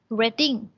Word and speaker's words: Reading: แปล ว่า การ อ่าน แต่ ว่า Reading ตัว นี้ ไม่ ได้ มา วิ่ง อ่าน ว่า Wedding wedding นี่ เป็น เมือง เมือง หนึ่ง ใน อังกฤษ นะ คะ เป็น เมือง หนึ่ง